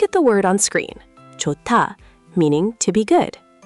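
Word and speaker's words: 좋다: Johta, meaning to be good. Okay. Written, it's johta, but the h meets the d. Yes. What happens? They combine into t, so it becomes jota.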